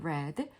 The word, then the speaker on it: read: 현재는 read드라고 읽는데 과거는 read가 아니고 읽으셔야 돼요. read레 red.